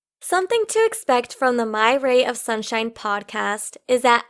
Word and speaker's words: Mayra: only because i'm hispanic my name is pronounced myra and it's spelled m-a-y-r-a m-a-y-r-a yeah also if